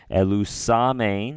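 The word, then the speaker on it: ἐλυσάμην: I'm going to just give a little pronunciation of this here. Elusamein, right?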